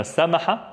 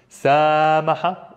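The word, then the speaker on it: سماحة: So, anna samaha, quick. Samaha, extend. Samaha, samaha.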